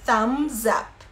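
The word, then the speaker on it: thumbs up: ó polegar chama samba Mas a gente não pronuncia a letra b então então a gente faz Fecha a boca de bmb mas não fala tão a gente fala Sam's up Então olha só estamos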